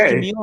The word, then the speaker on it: Jamil: And it's pronounced Jamil, am I right? Yeah, Jamil, you got it right.